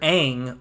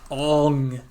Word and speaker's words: Aang: Arrow-clad teenager Aang was the last of these supernatural humans in a Nickelodeon series. Collin. Or the airbender. And thankfully I pronounced his name correctly and it's not Ong.